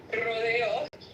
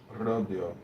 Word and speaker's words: Rodeo: It's actually Rodeo Street. You're not pronouncing it correctly. Rodeo. Rodeo. That's true. Rodeo.